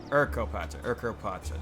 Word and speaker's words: Urkopacha: Urkopacha. That's how it's pronounced.